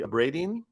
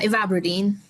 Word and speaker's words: Ivabradine: Propranolol, I don't know how to pronounce this one, Kirti, Abradine? Yeah, Ivabradine.